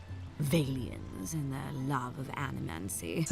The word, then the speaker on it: animancy: These Valians and their love of animancy. That's how you pronounce it.